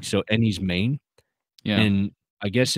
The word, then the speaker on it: Enys Men: I was like what Enis men what is that so I did a little bit of research apparently men is actually pronounced like Maine yeah like so any's Maine yeah and I guess